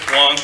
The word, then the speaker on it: Wang: Okay, Wang is Wong. Hashtag Wang is Wong. That's okay. Just explain. W-A-N-G, W-O-N-G, spelled and pronounced the same way, spelled differently. W-A-N-G is Northern and Central Chinese. W-O-N-G is Southern Chinese.